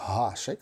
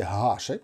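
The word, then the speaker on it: Гашек: і тому прізвище га гашик Ніякого гашика нема гашик це гашик Ярослав або Домінік гашик великий друг України хокеїст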